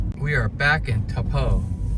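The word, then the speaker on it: Taupo: So, now that we're done with the cave, we're back to Tapo. That's how you pronounce it.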